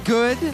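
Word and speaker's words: Goode: Dahlia Sin, the one and only Gigi Good, the E is silent.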